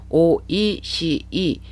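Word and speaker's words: おいしい: 드릴께요 오르 시작하는 대표적인 단 없고 2시 라고 오이시이 4 음 절어 이지만 어 시에서 장마 현상이 나타나요 c 안고 비슷한 발음이 뒤에 나오기 때문에 서씨를 길게 발음 하셔야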